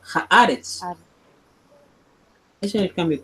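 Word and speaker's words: הארץ: Entonces ya no se va a pronunciar Eretz, sino se va a pronunciar Haaretz.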